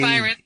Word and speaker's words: Mhairead: Mhairead. Phonetically, it's M-Y-R-E-D.